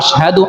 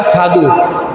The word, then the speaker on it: আশহাদু: সাহাবারা কয়, ইয়া রাসূলুল্লাহ, আজকে বেলালে আজান দিতেছে, বেলালে আজানের মধ্যে কইতো আশহাদু আন্না মুহাম্মাদুর রাসূলুল্লাহ, এইভাবে উচ্চারণ করতে পারে না, কয় আশহাদু। আশহাদুরে কয় আসহাদু।